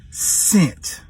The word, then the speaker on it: cent: That word is scent. C-E-N-T. All right? Yeah. Talo, what is the C sound? So why is it not called Kent?